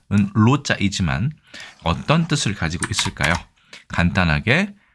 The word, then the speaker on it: 露: 그러면 이 노자는 원래는 발음은 로자이지만 어떤 뜻을 가지고 있을까요?